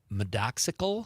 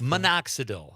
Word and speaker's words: minoxidil: But he also says medox medoxical. How do you spell that con? For hair growth. What is what is it? Medoxical for hair growth. Minoxidil.